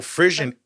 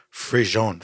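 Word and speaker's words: frisson: So Frisian, it's a French word. Frisian is a French word pronounced frison or Frison.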